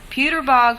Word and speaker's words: Puterbaugh: Rankin who is forgive me if I don't pronounce this properly Puterbaugh professor of free enterprise that's correct okay could you explain